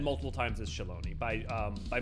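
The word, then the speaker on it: Shaaloani: and the tacos uh if you want to go by how it's pronounced by most of the people in it it's Shalon um I did shallow before it came out I said shalani but the way it's voiced it's done shalone yeah in the game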